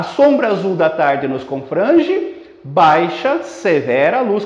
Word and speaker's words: confrange: Portanto, confrange só conta até o fran, a última sílaba não conta.